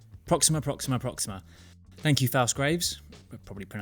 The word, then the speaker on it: Proxima: Before I start, I don't know why, but last time I was pronouncing it Proxima. It's Proxima. Proxima.